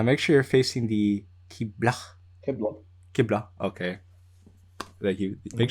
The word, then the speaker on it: Qibla: Is it Qibla? Okay. You need to lessen the pronunciation. It's not that intense. Oh, it's breathier, right? Yeah, it's breathier.